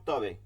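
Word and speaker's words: حاء: এরপরে হচ্ছে হা, এটাকেও কিন্তু করতে হবে, এটা কিন্তু আরবিতে, এটা বাংলায় নাই, এটা আরবিতেই করতে হবে। হা, কণ্ঠের মধ্যখানে চাপ দিয়ে বাতাস চলমান রাখতে হবে, হা।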